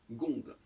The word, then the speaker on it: seconde: Quand on dit une seconde, on écrit C, mais on prononce gonde.